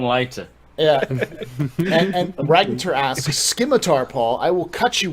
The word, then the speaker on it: scimitar: he was German, so he pronounced the hard C instead of the soft C of the sim, like we say scimitar.